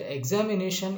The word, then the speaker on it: examination: And coming to the information is telling you, telling to you that examination is a word and which has the primary stress on the fourth syllable, and coming to NA is accentuated at first.